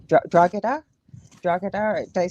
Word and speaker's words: Drogheda: is silent, believe it or not. So it's like a H. It's Drogheda. Drogheda.